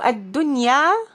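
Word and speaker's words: الدنيا: So ad-dunya is pronounced clearly with the izhar.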